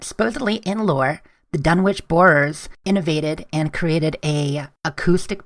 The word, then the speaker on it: Borers: So let's talk about the Dunwich Building in Fallout 3 and Dunwich Borers, which rhymes with Dunwich Horror, the H.P.